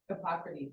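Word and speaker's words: Hippocrates: Hypocrites how do you say his name H Hypocrites that's what I Hypocrites Hypocrites so he wasn't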